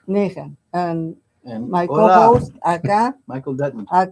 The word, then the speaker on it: Nehen: No, your last name, pronounce it, please. Nehen. Nehen.